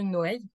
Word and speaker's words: Noë: monsieur qui s'appelle monsieur noeï ça s'écrit Noë mais en Catala on prononce noeil euh qui est propriétaire